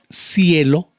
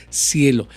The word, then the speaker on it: cielo: sol o puedo decir cielo y se escribe con c pero se pronuncia como ese cielo eso es muy diferente